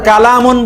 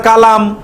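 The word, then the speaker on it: كلام: বলেন তোলাম আর কালামুন বললে হয় দিস ইজ এ সেন্টেন্স আমরা যেরকম বলি না কালামুল্লাহ আল্লাহর কালাম আল্লাহর কি আবুল কালাম এটা হলো কালাম আরেকটা হলো কলাম আল্লাহর কলম না আল্লাহর কালাম মানে আল্লাহর বাক্য আল্লাহর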